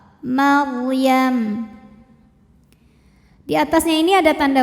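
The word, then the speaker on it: مريم: Ra sukun didahului baris fathah dibaca secara tafkhim, bacanya tebal. Maryam.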